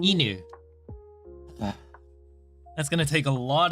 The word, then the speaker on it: 犬: 犬 Inu.